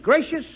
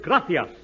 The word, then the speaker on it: gracias: simple Spanish phrase read it please okay muchas gracious Amigo no no no no not gracious that word is gracias you see in Spanish the sea is pronounced